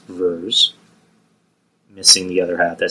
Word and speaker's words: Vers: Why don't you just call her Vers? Vers kind of sounds like it's spelled with two E's or EA.